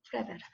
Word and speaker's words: Flaubert: 그러니까 Flaubert, 이게 지금 불어잖아요. 그러니까 마지막에 발음이 안 나죠. 불어. Flaubert.